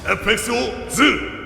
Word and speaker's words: FXOZ: FXOZ! I like that, how he said that. Using the O part to pronounce it.